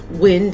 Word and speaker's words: Wynd: Wind is spelled W-Y-N-D.